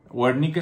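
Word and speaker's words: Wernicke: y el área de W nikel wernick se escribe w e r n i c k l e eh el área de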